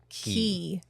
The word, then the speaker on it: Cay: of like, is it Key or is it K? There's like the back and forth. Here's the thing. Disney calls it Key, so in this conversation, we're calling it Key. C-A-Y is pronounced Key.